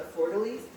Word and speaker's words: fleur-de-lis: I'm going to mess this up because I don't think you pronounce the S at the end. But the fleur-de-lis, that's what it is.